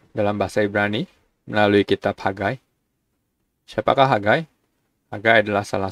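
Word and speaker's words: חגי: Ini huruf ket, bukan huruf he. Jadi bacanya itu ada huruf H, di sini mungkin ada huruf K gitu, seperti itu. Hagai. Ini ada dagesh menunjukkan doubling. Di sini ada patah yod, berarti bacanya itu Hagai.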